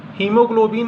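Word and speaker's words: haemoglobin: तो यहां पे ए तो आया है लेकिन यहां पे ए साइलेंट है। हीमोग्लोबिन है तो हीमोग्लोबिन में भी आपका ए यहां पर क्या है?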